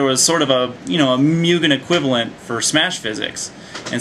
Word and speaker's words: Mugen: It is built in the spirit of Mugen, or Mugen, or however you pronounce it, M-U-G-E-N.